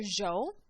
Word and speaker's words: yo: They pronounce the y as a j. So if you ever hear jo, just know that it's still yo.